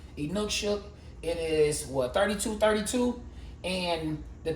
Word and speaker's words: Inukshuk: I've heard people pronounce it different ways, but that's how we're going to pronounce it. Inukshuk.